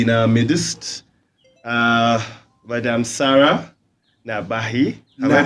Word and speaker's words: Nahabi: guest, a lady in our midst, Madam Sarah Nahabi. Have I pronounced it well? I can pronounce it. Nahabi. Yeah. Oh, sorry, I said it the other way around. Do you know pronounce it? Sarah Nahabi.